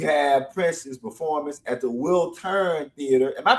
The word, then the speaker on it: Wiltern: And then we have Prince's performance at the Wiltern Theatre. Am I pronouncing it right? Wiltern?